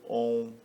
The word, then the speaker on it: Om: Como já disse, a palavra Om ela pode ser pronunciada segurando mais tempo o O, segurando mais tempo o U ou segurando mais tempo o M, como René Guénon ensinou, né, em algumas lições, de modo que você queira enfatizar alguma característica própria desses 3, né?